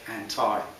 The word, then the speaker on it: anti: I say it, anti, to rhyme with Popeye.